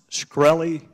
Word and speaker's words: Shkreli: chairman is it pronounced shkreli yes sir see there you can't answer some